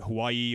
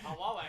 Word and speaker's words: Huawei: We've got all the major brands, you know, Apple, Apple, Samsung, Nokia, the Hawaii or Hawaii. I can't I can't spell it. I can never say it. Yeah. Huawei.